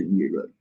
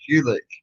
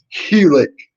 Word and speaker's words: Ulick: Ulick. Yeah. That's because I couldn't say his name right properly the first time. I said it Hewlett or some shit like that.